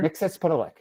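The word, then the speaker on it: Mxyzptlk: Can you pronounce that for me again, sir? Mixospitalik.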